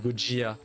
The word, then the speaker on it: Gojira: Gojira, parce que c'est du japonais évidemment. C'est comme Godzilla, Ah, c'est Gojira. ok.